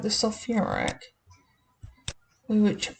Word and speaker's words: sulfuric: So this is one that we do change the pronunciation a little bit on. So we call this sulfuric, not sulfic.